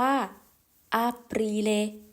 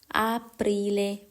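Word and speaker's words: Aprile: ขวา นะ คะ ปา ภาษา อิตาลี เรียก ว่า อรีเล อรีเล แปล ว่า เมษายน ค่ะ เดือน ถัด ไป นั่น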